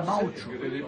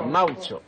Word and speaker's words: maoche: La moche en français, ça s'écrit M-A-O-C-H-E, et on dit en patois la maotch. La maotch.